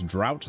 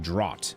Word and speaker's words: drought: You pronounce drought like draught instead of drought.